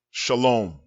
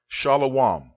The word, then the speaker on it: shalom: pass on next word shalom shalom not shalawam this word is pronounced shalom if you say